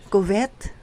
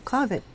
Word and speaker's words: covet: to say last Sunday narinig ko pa rin po yung covet na sinabi ko ay dapat ay covet narinig ko pa rin